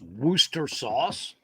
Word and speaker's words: Worcestershire: cheap kenny says he's pronounced worcester that's worth jesus christ now you got me confused what's this yeah where's the shire oh yeah that's how it's spelled it's not pronounced wooster sauce are you having cake